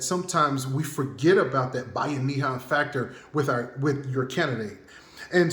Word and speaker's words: Bayanihan: It's Bayanihan.